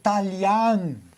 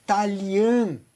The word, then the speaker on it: Talian: E allora si dice sempre talian, canton, santo. Non che sente il italiano, il til e l'accento circoflesso. sempre no che no che dell'italiano. Sempre verto. Sempre verto. No che dell'italiano allora dir taglian. E peggio ancora quelli che dice Italian.